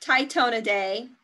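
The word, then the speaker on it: Tytonidae: captions at the bottom there but it is pronounced tytona day i don't think it's popping up correctly but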